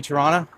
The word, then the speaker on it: Toronto: The reason it's called that is because A, I am a tour guide, and B, no one in Toronto pronounces the second T, so we all say Toronto.